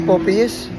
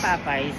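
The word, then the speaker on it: Popeyes: yan ganyan siya lagi paano ba ang right pronounce niyan talaga popy yes popy yes yan popy yes popy talaga yan kasi para kang naka poopy pag sinabi nilang papay Tanga yun e ba Oo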